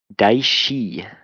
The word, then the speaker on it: Daishi: It is pronounced Daishi. Sean Daishi. Dice is better.